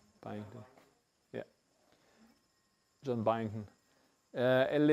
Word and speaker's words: Byington: How do you pronounce this name? Byington.